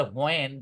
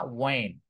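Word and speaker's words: when: অনেকে বলে হোয়েন, হোয়েন না ওয়েন। ডাব্লিউ এবং এইচ যখন শুরুতে থাকে তখন এইচ এর উচ্চারণটা ওইভাবে হয় না, রাইট?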